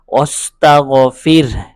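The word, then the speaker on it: واستغفر: একইভাবে এই যে ওয়াস্তাগফির এখানে র সাকিন হাও অকফ করার কারণে হা হরফটিও সাকিন হয়েছে এজন্য র একদম স্পষ্ট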